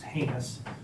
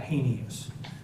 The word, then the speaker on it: heinous: want to clear on first of all it's pronounced heinous not hanives secondly we have rules of evidence and everybody